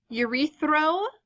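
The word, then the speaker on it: erythro: fingers might turn blue Yuri throw is how you say this one again weird spelling Yuri throw I always think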